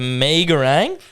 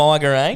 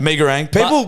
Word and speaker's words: Megarang: The Megarang, not the Migarang. Megarang.